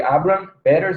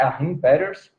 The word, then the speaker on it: Achim Peters: Eu até pronunciei errado no vídeo que eu postei hoje de tarde, eu falei Abraham Peters, mas é Achim Peters, que ele, com um